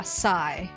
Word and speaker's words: Xi: I think it's like Psy? Yeah, Psy. It's spelled X-I, Psy.